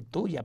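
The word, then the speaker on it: Thuja: se llama tunja claro se dice tuya pero se escribe tu hoja entonces también registra la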